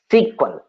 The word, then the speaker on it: SQL: feature next feature see sql can be pronounced as a sequel spl sql sql sometimes